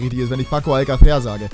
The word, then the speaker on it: Alcácer: ist, wenn ich Paco Alcácer sage. Der einzige Fehler daran ist, dass es Alcácer heißt und nicht Alcácer, weil der Akzent auf dem A ist.